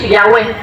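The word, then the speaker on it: Yahweh: The more correct way to pronounce the God words or the God's name is Yahwe Yahwe pala.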